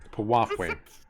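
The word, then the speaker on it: piwafwi: There's so many names in this game that I hate because they're so weirdly pronounced. Yeah. P-I-W-A... Pawafwe.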